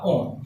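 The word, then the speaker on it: -one: तो कीटोन के नाम में ही आ रहा है यहाँ पर ONE, तो इसको वन नहीं बोलेंगे, इसको आप क्या बोलोगे, ओन बोलोगे, ई साइलेंट है यहाँ पे कीटोन, ठीक है।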